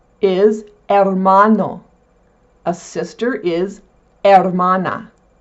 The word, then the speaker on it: hermana: The H in Spanish is silent. It's not hhh like in English, there is no pronunciation of the letter H. For example a brother is hermano. A sister is hermana.